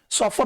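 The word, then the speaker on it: chauffeur: सॉफर, ये सॉफर इसका प्रोनाउंसिएशन होता है, सॉफर होता है ड्राइवर, और ये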